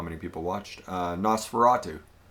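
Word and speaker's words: NOS4A2: Nosferatu. It's spelled NOS4, number 4, letter A, number 2. Nosferatu.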